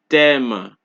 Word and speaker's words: thème: Mathématiques, thème, T. Alright? So in each word, you're only hearing the T being pronounced. You don't hear the sound of the H.